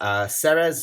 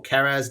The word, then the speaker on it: Ceres: I think it's the only one that's big enough in the Martian asteroid belt, known as Ceres or Keres, depending on how you prefer to pronounce it.